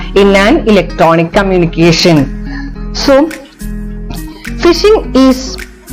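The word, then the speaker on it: phishing: a trustworthy entity in an electronic communication so fishing is pronounced like fishing common fishing f i f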